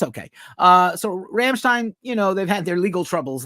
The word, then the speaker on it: Rammstein: Rammstein, if you're supposed to say it correctly, Rammstein has been sued for plagiarism by Cyborg Ninja for stealing the song Deutschland.